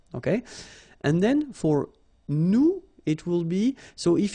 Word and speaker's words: nous: you remember correctly, so final S is not pronounced here. Okay, and then this O-N, so it's a nasal and it goes in your nose and it goes like on. All right, so you don't hear any N, so it's really on.